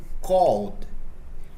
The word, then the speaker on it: called: Já na palavra called, o ED é pronunciado com som de D.